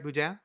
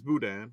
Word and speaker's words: Boudin: Did I say it right, Boudin? It's Boudin, but yes, it's close. Boudin. Oh, did I put the emphasis on the wrong syllable?